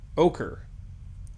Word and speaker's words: ochre: Is that Oshri? Ochre? Oshri? Ochre.